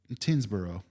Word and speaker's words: Tyngsborough: I'm looking at Spell it. TYNGSBOROUGH. Tinsboro. Actually, yes. Nice job. Tinsboro. What? Tinsboro. Fucking Yeah. A. Dude, you nailed it.